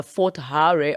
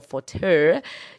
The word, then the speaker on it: Fort Hare: the university of uh fort hare or forte depending on where you come from and you know there's